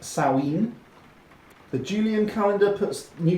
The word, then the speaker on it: Samhain: Now, neo-pagans tend to celebrate the New Year on Samhain, pronounced Samhain.